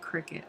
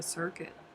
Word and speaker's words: Cricut: They pronounce it cricket.